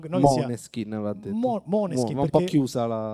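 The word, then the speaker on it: Måneskin: ho scritto a Vittoria chiedendole come voleva che pronunciassimo il nome. Quindi ho questo audio in cui dice per favore di' Moneskin se puoi dire Moneskin, che poi Maneskin va bene anche ma forse no no non che sia Moneskin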